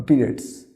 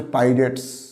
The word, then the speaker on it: pirates: আমরা এটাকে অনেকে পিরিয়ডস উচ্চারণ করি, আমি এটা প্লুরালে করে দিয়েছি, পিরিয়ড বা পিরিয়ডস। এটা পিরিয়ডস না, জলদস্যু। এর সঠিক উচ্চারণ হচ্ছে পাইরেটস, পাইরেটস, জলদস্যু।